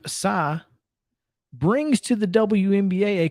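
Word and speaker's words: Tsai: say his name correctly it's t-s-a-i joseph saw uh i would think it's uh yes joseph psy brings to the wnba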